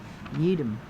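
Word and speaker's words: Yee-DM: Popularly known as yeedum ye e dm pronounced to rhyme with eidm yedum.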